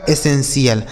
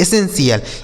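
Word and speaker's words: essential: और टी आई एल का उच्चारण क्या हो गया? सी एल। यही लिखा गया आपका एसेंशियल। क्या लिखा मेरे दोस्त? एसेंशियल। यानी इसे पढ़ा जाएगा एसेंशियल।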